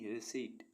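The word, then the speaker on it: receipt: मीस भजन आर ई सीई आई पी टी रिट रिट मीस रसीद पी एस ई यू डी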